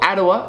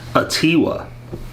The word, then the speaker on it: Atiwa: rosenberg's Ottawa well Ottawa is from uve Rosenberg a tiwa apparently if the stress is on T and it's uh it